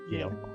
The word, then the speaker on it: Vael: Yale.